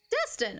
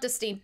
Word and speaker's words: destine: do you say it Destin okay it's not distinct Destin attend or choose for a particular purpose or end destined it's like destination Dustin got it I walked